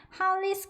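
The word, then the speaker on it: Hollys: 이렇게 써 있는 거 보이실 건데이가 발음 나죠 그리고가 아 발음 나고은 두 개가 으니까 한 번만 해 주시면 되죠러 하고는 e 바름나요 거기 S 붙인 거예요 그래서 할리스 리스 이렇게 발음해 주시면 되고요 리스 같은 경우에는 할리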